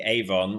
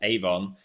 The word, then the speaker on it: Avon: posted through your door, it's pronounced Avon, but it's the Avon in Australian. Ah, okay. So you have corrected my pronunciation. Well, also mine. I've been pronouncing it Avon, and I'll continue to pronounce it Avon because that's the way it should be said. But the Australians say it Avon.